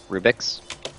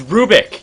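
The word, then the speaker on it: Rubick: still willing against this Rubix it's Rubik you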